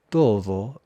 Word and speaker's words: todo: En esa recepción va a estar todo el mundo. Todo. El la D es más como la th de then or there, todo el mundo y pronuncia esta palabra de esta forma para enfatizar.